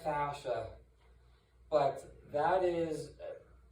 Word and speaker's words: fascia: one product yeah it's uh it's it's usually pronounced fascia but that is it's a it's a soft